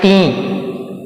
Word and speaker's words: تھیں: ساتھ کھیلا کرتی تیں۔ تلفظ اس کا کیا ہے؟ تیں، تے اس کا تلفظ نہیں ہے، تیں۔ فائزہ اور آمنہ میرے